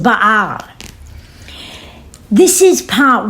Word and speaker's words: Baal: His name is actually properly pronounced Baal.